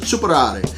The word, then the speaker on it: Superare: Now, actually the name Superare, as you see across, that's how we would pronounce it here in the States, but it's actually Italian, and you would pronounce it Superare.